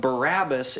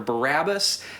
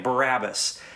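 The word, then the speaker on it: Barabbas: by uh is actually a compound word made up of two words bar which means son of and ABA which means father so you may recall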